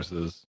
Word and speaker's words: Arsis: It's Arsis. How do you spell it?